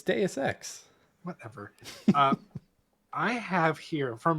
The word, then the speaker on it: Deus Ex: You were like Deus Ex. It's Deus Ex.